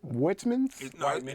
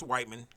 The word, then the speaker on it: Whiteman: I've ever said it the correct way is it Whitman no it's Whiteman okay it's a white man yeah but I always